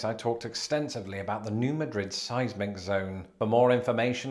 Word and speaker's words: New Madrid: They emphasize the first syllable, as in New Madrid, and this is an example of a shibboleth.